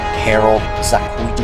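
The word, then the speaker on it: Harold Sakuishi: 3.5 for an extra 0.5 just because the artist Harold Sakuichi, that's how you pronounce it, progress art overall, and it would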